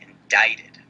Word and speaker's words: indict: if you should be indicted this word here means or it's pronounced indict what that means is